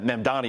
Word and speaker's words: Mamdani: Yeah, Mandani is the correct way.